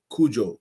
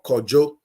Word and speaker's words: Kojo: In the Ewe tribe, it's pronounced Kujo or Kojo. The Ashantis or the Khan will say Kwejo.